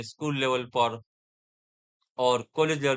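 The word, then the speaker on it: pas: शायद आप पढ़ोगे सेनिपा, से नी पास, ऐसा पढ़ोगे, लेकिन नो, यहाँ पे एस साइलेंट है पास के अंदर। पास के अंदर सिर्फ आप पा ही बोल सकते हो, पा, पा, पा।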